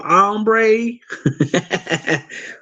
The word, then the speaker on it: hombre: right on the hombre it's with a h but you don't pronounce the h but I'm gonna say that like like I'm a text like I'm a cowboy muy bueno hombre oh oh we got